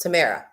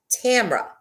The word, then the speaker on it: Tamara: And by the way, you guys, Tamara is not pronounced Tamara. It is pronounced Tamra.